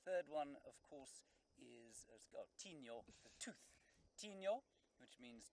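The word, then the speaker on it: Tinyo: Then the third one, of course, is Tino, the tooth.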